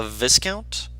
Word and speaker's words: viscount: It's just There is an Viscount. S. It's silent. Stupid silent letters.